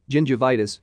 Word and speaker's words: gingivitis: G and C assume the soft sounds of J and S, respectively, when used before E, I, and Y. Examples are gene, gingivitis, cycle, and cytology.